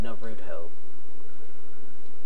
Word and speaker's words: Naruto: how it this pronounced it is pronounced Naruto well no ask ask